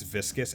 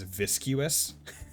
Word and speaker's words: viscous: See, I remember I used to pronounce viscous as viscuous, even though there isn't a U like before the O.